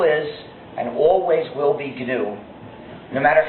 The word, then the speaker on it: GNU: know how to pronounce GNU the correct way when it's the animal. But when it's the name of our system, the correct pronunciation is GNU, pronounce a hard G.